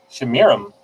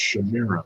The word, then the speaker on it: Semiramis: Shamiram. It's spelled like Semiramis, but it's pronounced Shamiram.